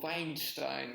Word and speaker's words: Weinstein: yes, with the actresses, essentially, Joseph Goebbels, he was a bit of the Harvey Weinstein of his, or Weinstein, as he would be pronounced in German, of his time.